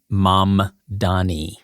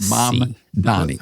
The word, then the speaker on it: Mamdani: Zoran Mamdani. So it's the mom before the man. It's Mamdani.